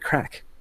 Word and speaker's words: craic: just hanging out you're having a bit of craic and it's spelled C ra I see huh she was